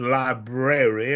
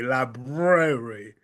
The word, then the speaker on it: library: But just for those of you who do not know, the correct pronunciation is library, Libra, library.